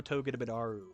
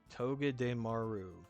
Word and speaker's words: Togedemaru: So I'm going to go ahead and put Buzzwole in Awesome, right above Excadrill, but below Togedemaru. Why do I always say that name wrong? Togedemaru.